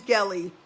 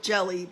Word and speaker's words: Gelly: My name is Gelly. Rhymes with jelly, but I really don't like to be called Jelly. So let's stick with Gelly. Here it goes.